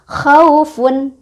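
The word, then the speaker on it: خَوْفٌ: Kita lihat, ini khaufun. Jadi kalau nggak berhenti, kan ini diwasol atau disambung, maka bacanya khaufun. U-nya, waw matinya, itu hanya lunak aja dibacanya. Khaufun, pendek, lunak ya. Khaufun, lembut ya.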